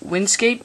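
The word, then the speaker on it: WinSCP: for this um you're going to need um Windscape it's it's spelled win s SCP so first of all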